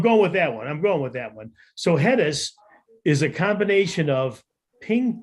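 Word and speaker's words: Headis: it correctly or not it is hedis it is spelled h-e-a-d-i-s I I think you know I think we make more sense if it was hedis like letters yeah okay right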